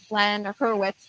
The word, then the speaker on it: Glenn Hurowitz: to bring on the founder of Mighty Earth Glen Hertz and I'm pronouncing your name correctly yes well done Glenn